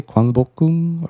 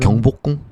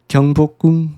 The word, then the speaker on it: 경복궁: How do you say, 광복궁? Or am I saying it right? 경복궁 Kyungbokgung, yeah.